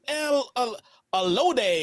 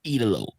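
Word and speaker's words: El Ídolo: No, he's El Olode.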